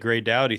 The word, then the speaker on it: Gray Dawdy: All right, Gay Dowy, thanks for coming, man. Yeah, thanks. You actually pronounced my name correctly, too, which is cool.